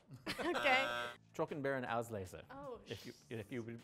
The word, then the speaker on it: Auslese: Truck and beer and Auslese. Oh. If you would like the pronunciation.